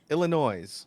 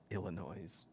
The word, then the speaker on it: Illinois: There's no rhyme or reason, but you definitely don't pronounce the S in Illinois.